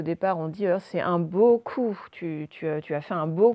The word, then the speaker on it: beaucoup: Donc, nous avons le O qui s'écrit E-A-U, donc première syllabe. Bon, autrement, OU, vous connaissez. Deuxième syllabe, avec une lettre muette à la fin. Et donc, ça nous fait beaucoup.